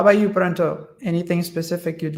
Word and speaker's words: Pranta: So I know that the way that he pronunciates is Pronto, but it's not an O at the end, it's an A.